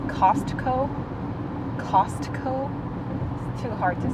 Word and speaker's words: Costco: 그 미국 본토 발음으로 하면은 Costco. How do you say it? Costco. I don't know if you say it fast, Costco. It sounds like C-O-S-C-O.